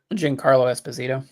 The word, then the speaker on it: Giancarlo Esposito: I mispronounce it every time. Giancarlo Esposito.